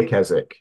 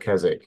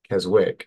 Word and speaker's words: Keswick: were born in KZ well no it's it's pronounced kzk in the UK right near kezic so I I live yeah in the north of England near the lake district and in the UK it's called kesic and you live in Keswick right and I